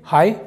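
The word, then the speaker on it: high: हैं हाय अब देखो यहां पर जी एच साइलेंट है यहां पर हम पढ़ेंगे हाई इसका मतलब होता है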